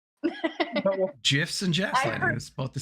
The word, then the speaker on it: GIF: cornbread mix uh the jfy cornbread mix you can't Gaslight me into thinking GIF is pronounced any other way but GIF okay JF huh it's GIF I think he's now